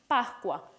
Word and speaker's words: Pascua: They would be pronounced in two different ways. In Italian, Pascua, and in Venezuelan Spanish, Pascua.